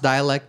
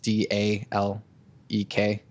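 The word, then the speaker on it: Dälek: and dialect it's pronounced dialect but it's spelled da l EK so dalek but the a has two dots over it which is why it's pronounced dialect um they're like a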